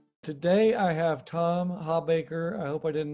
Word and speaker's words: Hawbaker: Today I have Tom Hawbaker. I hope I didn't mispronounce that, but I'll let you That's right.